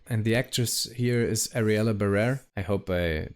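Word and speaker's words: Ariela Barer: And the actress here is Ariella Barrer. I hope I pronounce it correctly. My name is Ariella Barrer.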